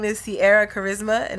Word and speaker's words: Carisma: And my name is Cierra Carisma, and it's spelled CIERRACARISMA. So like charisma, but like no H.